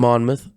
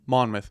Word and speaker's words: Monmouth: went to is it mon how did you pronounce it Monmouth Monmouth yeah is that an Ivy League school no